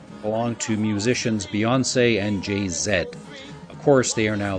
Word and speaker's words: Jay-Z: of Destiny's Child and jayzed of sorry I'm being told it is JayZ Beyonce and JayZ but it's spelled JayZ okay we'll go with Jay-Z Beyonce and Jay-Z apparently my Canadian is showing to the right of